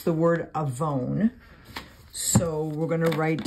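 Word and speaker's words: עָוֺן: So the word sin is the Strong's number 5771, and it is A-V-O-N, avon is how it's pronounced.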